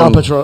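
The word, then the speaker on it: El Patrón: You are fighting Alberto El Patron. Is that how you say his name? Or Patron? Patron. El Patron. El Patron.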